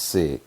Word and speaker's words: sic: Pronounced sick is a Latin term meaning thus or so.